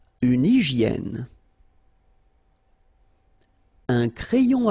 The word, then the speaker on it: hygiène: Une hygiène. So remember, we've got this Y here, vowel, and it's pronounced like E. E, okay? Hygiène. H doesn't exist, H doesn't exist in French, so hygiène.